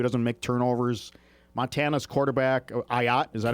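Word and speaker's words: Ah Yat: Montana's quarterback, Ayat, is that how you pronounce it? Ayat, yep.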